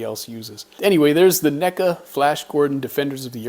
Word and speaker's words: NECA: a really cool name i have apparently been pronouncing that wrong for a very long time i used to call them nika but i watched a few other videos everybody else on youtube calls them neca so i'm assuming somebody